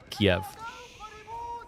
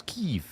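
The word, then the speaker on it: Kyiv: And for many people, they call them Kiev, which is most definitely not. It's Kev.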